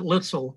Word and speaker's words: Luetzel: Well, we pronounce it Lutzel. I guess it's been Americanized a bit.